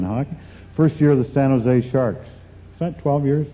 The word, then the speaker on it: San Jose: he said stupid California don't pronounce a J in San Jose well I said I'm